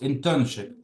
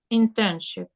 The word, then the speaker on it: internship: Наголос. Internship. Internship.